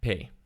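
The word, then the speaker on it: פ: This means that it can be pronounced as P or F, depending on whether it has a Dagesh in it, and it has a final letter.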